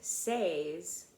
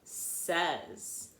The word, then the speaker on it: says: these two words are this one though we do save we don't say save we say says okay so now let's